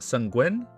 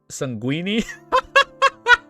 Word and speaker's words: sanguine: Sanguini? Oh, shit. What the fuck? I said that? Google Translate. That's so fucking funny. Sanguini. It wasn't sanguini.